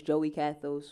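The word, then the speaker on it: Joie Kathos: Everything is Joey Cathos. So if you search my name, it's spelled a little funny. JoieKathos.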